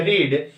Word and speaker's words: read: पे मीनिंग होता है, फर्स्ट फॉर्म होता है रीड और इसका सेकंड फॉर्म होता है रेड। रीड, रेड, रेड, लेकिन स्पेलिंग सेम ही होती है, READ प्रोनाउंसिएशन है इसका रेड होता है।